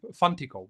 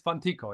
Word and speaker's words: Funtico: luno.comfantico and I would I thought it would be funico whatever. Yes. So I I don't know why I would have pronounced it that way but it's fantico.